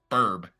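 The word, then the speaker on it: BRB: It's Be Right Back, but it's Burb. And Yeah. it's spelled different, of course, but that's just what it seems like to me, is every time I hear it as Burb.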